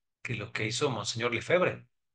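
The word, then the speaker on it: Lefebvre: fue el quiebre de monseñor lefebre lo pronuncio en español pero resulta que monseñor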